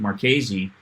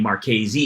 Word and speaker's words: Marchese: the you know owners co-founders of markware Patrick maresi uh his name mark KZ is um ital